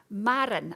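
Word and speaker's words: Maraen: He is a Chief Strategy Officer from Marr, and I asked him how you pronounce that just to get it right. It's M-A-R-E-A-N. Oh no, M-A-R-A-E-N, and it's Marra, which is Gaelic for the sea, energy, Marran, which makes perfect sense now.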